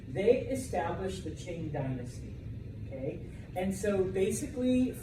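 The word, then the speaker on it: Qing: and ends in a g um but it's pronounced Ching all right they established the Ching Dynasty okay and so basically from 1644 until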